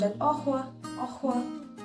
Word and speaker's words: au revoir: Au revoir. Because there is an R in it. Double R. R-E-V-O-I-R. Au revoir.